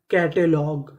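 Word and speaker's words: catalogue: कैटलॉग कैटलॉग कैटलॉग का मतलब होता है सूची तो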